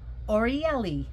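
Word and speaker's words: Aurélie: l i e E I had to Google the pronunciation of it and I'll probably still butcher it so those of you that speak French or no French I'm sorry but it is oreli or so it's or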